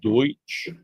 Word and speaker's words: Deutsch: grandmother was uh Pennsylvania Dutch, which is German. People don't know uh Pennsylvania Dutch is because they couldn't pronounce Deutsch or they mispronounced Deutsch.